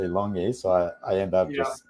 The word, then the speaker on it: LONGi: been a bit fearful because longy or longi I always pronounce it like a typical Londoner and calling it longy long my my it is it is longy um but yeah I